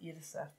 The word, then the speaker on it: Yrsa: I've seen, and another writer actually, but I think it's pronounced Yrsa.